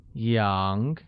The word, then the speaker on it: 羊: I have 1 sheep translates to 我有一只羊, where sheep becomes 羊 and is pronounced with a mid-rising tone.